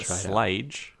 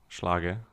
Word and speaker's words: Schlage: Slage? Yeah, SCHLAGE. That's the brand. Schlager.